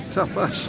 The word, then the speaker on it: tapas: Tapas, look, I always call them tapas, they're tapas, aren't they? Get the right pronunciation.